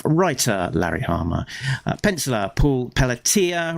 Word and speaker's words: Pelletier: Pencellor Paul Pelatia rhymes with Pia uh Inca Tony Cordos.